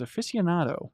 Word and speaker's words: aficionado: Mike's example was aficionado, which I might have mispronounced right there. He says, I pronounced it... Right, how do you... Affianciando.